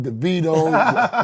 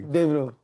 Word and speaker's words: Davido: Is it Davido? Devidito. Wait, which way do I say it correctly? Davido.